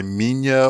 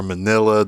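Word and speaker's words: Minilla: that titular sun which goes by Mina or Manila depending on uh the dub or what you see and how people pronounce it I typically pronounce it as Mina he does get a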